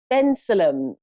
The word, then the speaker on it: Bensalem: we have Dawn in Bensalem. Are you there? Yes, hello. I don't know if I could pronounce that right. Bensalem. It's Ben Salem. Right?